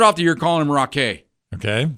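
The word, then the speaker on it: Raquet: the year calling him Rock a okay it's spelled r-a-q-u-e-t I go that's gotta be right okay that would seem right like Chevrolet yeah so I'm going rock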